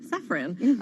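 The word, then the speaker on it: Safran: 50 actually is sephron which I'm recently learning is pronounced sephron uh their guidance coming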